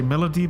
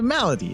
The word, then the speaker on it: Malady: know right I I I want to say Melody but it's not Melody is it John it's Mal it's a malady it's like a disease it's like a sickness